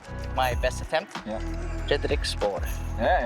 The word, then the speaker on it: Spåre: So maybe my first question for him is, how do you pronounce your name? Fredrik Spåre.